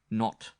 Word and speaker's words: Nat: was a man named Nat Driscoll she pronounced it not he was middle-aged or